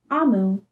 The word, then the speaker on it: Omu: right here that says note to the reader amu pronounced is the igbo term for queen well amu